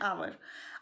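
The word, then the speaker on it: hour: लेखक, an idea, an आवर। अब यहाँ पे आवर में आप कहेंगे कि ये तो एच से स्टार्ट है, या ये एच से स्टार्ट है, बट यहाँ पर एच साइलेंट है, and after that O, यू, आर, O, right.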